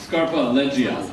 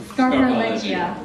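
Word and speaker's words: Scarpaleggia: How should I pronounce? Scarpa-Leggia. Scarpa-Leggia.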